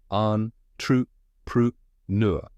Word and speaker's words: entrepreneur: And finally, N-U-R, which rhymes with blur.